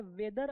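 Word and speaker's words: weather: देखिए डब्ल्यू ई ए टी एच ई आर ये वेदर अलग है और यह वे दर वे द वे द यहां पे आर जो है वो साइलेंट है।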